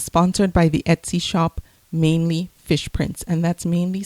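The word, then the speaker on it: Mainely: Hi, I'm doing another giveaway, and this one is sponsored by the Etsy shop Mainly Fish Prints, and that's mainly spelled like the state, M-A-I-N-E, Mainly Fish Prints.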